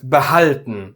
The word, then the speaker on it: behalten: So, it is Gehör, not Ge-hör. And Behalten, not Be-halten.